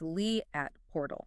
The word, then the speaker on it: Liat Portal: And just so you know, that is pronounced Lee at Portal.